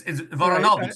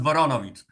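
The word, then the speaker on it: Woronowicz: It's Voronovich, not Voronovich.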